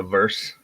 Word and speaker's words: verse: switch say that again it's a verse verse like versatile the first syllable of versatile well since we brought